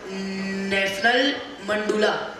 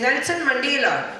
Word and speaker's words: Nelson Mandela: Sir, we will study about National Mandula. Actually, it is Nelson Mandela.